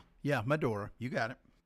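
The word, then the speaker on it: Medora: Madora. Madora North. Yeah. Not to be confused with Madna. Yeah, it's definitely not Madna. No, not Madna. It's Madora. Yeah, Madora.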